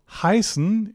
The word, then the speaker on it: heißen: So, heißen is the word used for names, Ich heiße Martin. Wie heißt du? And Österreich is the German word for Austria. Österreich. Okay. It's not pronounced A, it's pronounced I.